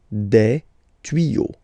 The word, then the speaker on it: tuyaux: You won't add S at the end, but instead of S, you will put X. Okay, des tuyaux. Same rule, you don't pronounce it. Des tuyaux.